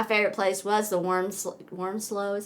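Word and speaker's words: Wormsloe: I think my favorite place was the worm worm slow is how you say it Plantation worm slow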